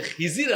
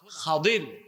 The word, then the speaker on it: খাদির: আমাদের দেশে অনেক লোকজন উনার নামটা ভুল উচ্চারণ করে। বলে খিজির আলাইহিস সালাম। কিন্তু উনার সঠিক এবং শুদ্ধ নামটা হলো খাদির আলাইহিস সালাম।